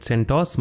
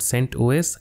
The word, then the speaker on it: CentOS: would be sent os some people call it centos but it is not pronounced like that it is called sent os os stands for operating